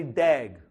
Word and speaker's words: DAG: directed a cyclic graph which we call pronounce as a dag okay so I'm going